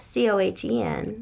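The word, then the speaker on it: Cohan: But not C-O-H-E-N. Wasn't it C-O-H-A-N? Yeah, they were C-O-H-E-N. He pronounced his name George M. Cohen, but he started off in the Four Cohens.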